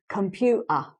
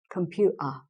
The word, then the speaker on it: computer: is the glottal stop words like computer with a t in it the t is not pronounced so some a lot of cockney speakers will say computer computer i don't need to write it because you can hear i'm missing out the t and doing a glottal